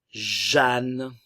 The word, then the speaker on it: Jeanne: Anne, Jeanne, ok, ici le E et le A vont se prononcer comme si on avait la lettre A.